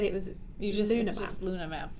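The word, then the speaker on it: LunaH-Map: looks like it's a lunar h map but before the recording you said it was you just luna map the h is silent again the h is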